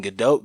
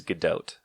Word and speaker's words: Gadot: which one is it so it's good doe the way that she I've heard her pronounce it is good oat okay so gal gadot t' got or gal gadot it's not like a hard T ok it's like good doubt good dough ok yeah that's how I